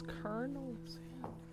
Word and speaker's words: Colonel: I love how his name is spelled nothing how it sounds. Colonel?